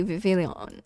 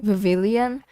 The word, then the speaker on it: Vivillon: I was growing up, people say Vivillon, right? Vivillon, and like now that like in the fandom, there's a lot of people say Vivillion, and like somehow it doesn't clock like as a mispronunciation, both of them. So I've just been saying both. I think Vivillon is the right one, but still.